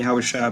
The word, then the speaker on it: Yahushua: of our Lord or Adawan Yahushua Mashiach, which is how you say it in the Hebrew, Lord Jesus Christ.